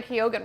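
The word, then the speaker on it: Keoghan: Let's talk about Barry Kyogan real quick. And that is how you pronounce it, right?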